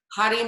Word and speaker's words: Hari: them so hottie so the r's are generally rolled a little bit or they can sometimes sound like a d you can hear that hati hari narayana hari narayana jaya